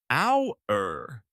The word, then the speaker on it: hour: The word is hour. H O. The H is silent. You say hour.